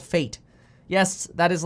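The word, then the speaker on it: FAIT: with m1 finance no so fate is f-a-i-t and it is pronounced fate but it stands for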